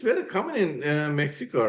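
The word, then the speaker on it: México: But the rule is that only for the word Mexico, the X is pronounced as. So in Spanish we say Mexico, I see. but in Okay. English is Mexico.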